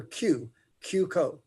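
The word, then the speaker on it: Cuoco: is cuco spelled c-u-o-c-o we pronounce it with the letter q q code all right thank you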